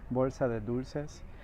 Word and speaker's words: Bolsa de Dulces: This plant right here is called Bolsa de Dulces. Let me say it right, like I actually know how to speak Spanish. Bolsa de Dulces, and was created by